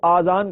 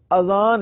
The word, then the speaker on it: اذان: بھی درست کر لیں، بعض لوگ اذان کو آذان کہتے ہیں، آذان تلفظ نہیں ہے، آذان جمع ہے اذن کی، اور اذن کے معنی ہے کان، درست تلفظ اذان ہے، یعنی الف پر زبر ہے، الف کے اوپر مد نہیں ہے، اذان۔ اور اذان کے لغوی